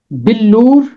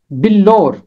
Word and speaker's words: بلور: ہے ایک لفظ بلور۔ اس کے دو تلفظ ہیں، بلور یا بلور، دونوں طرح اس کا تلفظ کیا جا سکتا ہے، اور اس کا